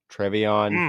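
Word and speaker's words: TreVeyon: It's going to be Trevion. Is that how you say his name? Henderson? Travion.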